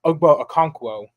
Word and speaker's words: Okonkwo: But Okonkwo is how you say that.